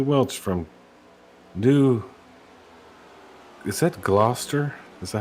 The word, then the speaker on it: Gloucester: Is that Gloucester? Is that how you pronounce that, Brown? Maine? New Gloucester, yeah.